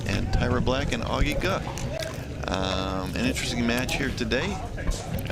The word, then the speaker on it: Ge: It's spelled G-E, but we have confirmed that it's pronounced Guh.